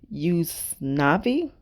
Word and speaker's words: Usnavi: tuitions anthony ramos plays us navi which is spelled like u.s navy but it's usnavi he actually tells this